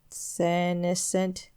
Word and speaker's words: senescent: But whereas my first brain endured for over 10,000 years, the present one is but 600 years old and is unmistakably senescent.